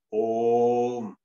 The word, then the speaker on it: Om: Actually, it is not Om, but it's Om. Three syllables.